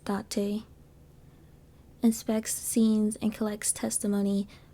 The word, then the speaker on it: Date: So yes, his name is pronounced Date.